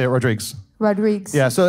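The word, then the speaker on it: Rodrigues: your last name was Rodriguez it's h it's actually pronounced uh rodriges because it's the Portuguese version has an S at the end rodriges rodriges like how my D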